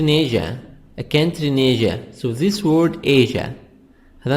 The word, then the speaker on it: Asia: A country in Asia. So this word Asia, هذا النطق دي نطق بتاع الكلمة دي بريطاني وأمريكي.